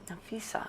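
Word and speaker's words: Napheesa: Nafisa.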